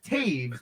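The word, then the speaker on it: Toews: chase spelled s-h-e-a just so you know jonathan taves spelled t-o-e-w s connor hellebuyck so there you go that is spell that name how'd you feel i actually felt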